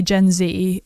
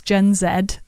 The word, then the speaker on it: Gen Z: on the rising generation so as Americans say Gen Z and in England it's Gen Zed let it be known